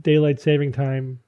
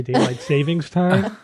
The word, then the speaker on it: daylight saving time: to get rid of daylight saving time for a couple of reasons the big one is that nobody knows how to pronounce it and they say daylight savings time but Evan tell us